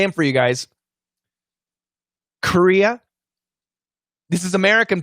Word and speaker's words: Korea: two are right so korea career okay and the difference is right here this is just a schwa and this is a schwa r so in other words this r is super important so if your r